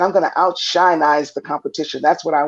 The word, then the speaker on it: OutSHINEize: or this show is out shine eyes is that how you say it that's correct how certain eyes the